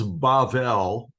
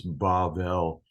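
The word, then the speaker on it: בָּבֶל: Babel or Babel it's bavel in in Hebrew the middle B is pronounced as a v it's like a soft sounding B sound so it's bavel and I want you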